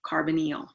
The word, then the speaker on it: carbonyl: call that a carbonyl it is not pronounced the way it is spelled of course that would be too easy right but we call it a carbon meal carbonyl group and so you're